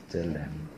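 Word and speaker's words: צלם: 젤렘. 젤렘이라고 해요. 젤렘? 뭐 첼렘이라고도 하고 젤렘이라고도.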